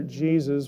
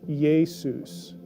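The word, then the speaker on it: Ἰησοῦς: t-h-e-y they jesus or does it begin with a y sound now jesus aramaic or hebrew name began with a y consonant yeshua but greek does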